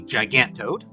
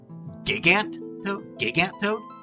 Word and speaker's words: Gigantoad: I don't know why, but I think a lot of people call it Gigantoad, which is so weird to me that people pronounce it that way because it's gigantic. Like, it's gigantic, so it's the Gigantoad.